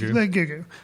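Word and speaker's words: Gugu: who I'm not even googoo, because that apparently is how you say her name.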